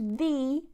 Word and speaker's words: the: I forgot to mention we can also use thee when we have a vowel okay so I don't